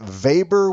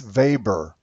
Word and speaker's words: Weber: It is pronounced Weber with a V sound, Max Weber.